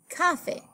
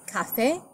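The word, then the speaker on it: café: for example cafe okay because it ends in a vowel the stress would naturally fall in the next to the last syllable making it cafe well that's not the word the word is cafe so we spell it with an accented EA at the end to show that that's where the stress falls in that word so that's the purpose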